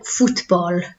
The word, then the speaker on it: fútbol: So, el fútbol, so it's not foot, it's foot, okay? The U sound, el fútbol.